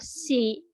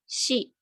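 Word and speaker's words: し: sih Nah ini kalau si kalau di romajikan kalau di apa pakai huruf romaji atau abjad itu isinya bukan si tapi Shi si jadi ini beda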